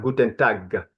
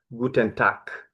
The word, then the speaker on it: Guten Tag: Guten Tag is not Guten Tag, no, Guten Tag, like a K.